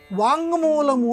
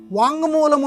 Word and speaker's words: వాంగ్మూలము: ఇక్కడ వాక్కు ప్లస్ మూలము అని వచ్చినప్పుడు అనునాసిక సంధి వచ్చి వాంగ్మూలము అని ఏర్పడుతుంది. వాంగ్మూలము అంటే అనునాసికం, ఇక్కడ కింద మావత్తు వస్తుంది. కాబట్టి అసలైన రూపం వాంగ్మూలము.